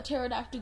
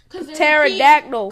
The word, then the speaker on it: pterodactyl: goes to the bathroom because the P is silent pterodactyl because there's a petard